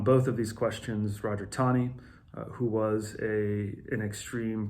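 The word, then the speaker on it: Taney: on the third point it looks like it's you would pronounce a teeny but it's tani think of it as there's a W in there between the a and E em and by the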